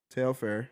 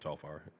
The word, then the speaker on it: Telfar: So when we talk about Tailfair, that's how you say it. Telfar.